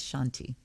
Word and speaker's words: shanti: part am shanti shanti no it's not a shanti it's shanti om shanti shanti okay